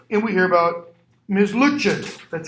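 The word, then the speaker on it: Lutyens: Luches. That's how her name is pronounced.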